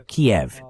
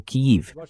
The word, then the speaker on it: Kyiv: E apesar do que Lindsey Graham disse antes, o comentário dele, a Rússia provavelmente vai tomar Kiev, ou Kyiv, como preferir pronunciar.